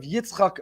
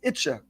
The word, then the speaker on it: Yitzchak: His name was Rav Yitzchak Meir. The Hasidic pronunciation and an affectionate, loving nickname pronunciation of Yitzchak is Itche.